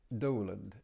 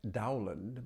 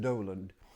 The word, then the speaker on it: Dowland: Let me do Doland. John Doland. It looks like Dowand, but it's pronounced Doland.